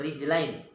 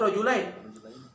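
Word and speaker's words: رِجْلَيْن: Kalau yang tidak paham, dibacanya rojulain. Tulisnya sama kan? Rijlain dan rojulain. Sama tidak tulisnya? Sama. Makna beda. Kalau dibaca rojulain, 2 ekor lanang, 2 ekor jantan. Kalau rijlain, 2 kaki.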